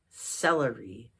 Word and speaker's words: celery: How about some celery? Celery. The C is a soft C in celery.